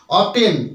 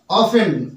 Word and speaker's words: often: আমরা অধিকাংশ সময় ভুল ভুল উচ্চারণ করি থাকি অবটেন অবটেইন এভাবে উচ্চারণ করি বাট এটার উচ্চারণটা কিন্তু অবটেন হবে